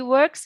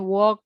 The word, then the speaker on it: work: He works hard every day. Is it clause or phrase? Clause. Where's the subject? He. The verb? Works. Bacanya jangan walk gitu ya. Work agak work.